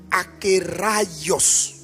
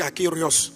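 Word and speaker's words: ἀκέραιος: Donc on prononce akios. Bon souvent moi je m' je me trompe, je dis akéos.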